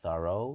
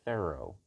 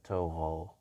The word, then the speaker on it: Thoreau: a ea you feral pharaoh you can say thorough you can say thorough not toho um this is the french pronunciation all right so yeah that's what i